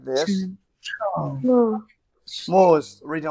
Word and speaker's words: 木: Pronounce as Mu.